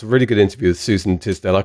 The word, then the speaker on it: Suzan: isn't it sale it's Susan has a Z in it usually people try to pronounce the Suzanne but it is Susan yes I missed out